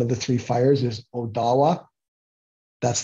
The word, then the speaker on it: Ottawa: the Three Fires is Odawa that's the proper pronunciation of Ottawa it's Odawa that's what that that's where the accent goes um so we're all